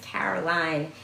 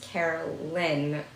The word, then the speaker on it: Caroline: My name is Caroline, but people usually think it's Carolyn and my last name.